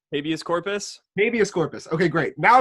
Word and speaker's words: habeas corpus: Hibiscus corpus. Is that how you say it? Habeas corpus.